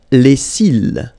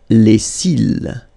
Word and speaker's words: les cils: Les cils. Les cils. Final S not pronounced. Les cils.